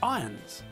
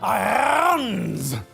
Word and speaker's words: Irons: pronounced iron not iron Jeremy Irons name is pronounced Jeremy Irons not Jeremy Irons here's the thing you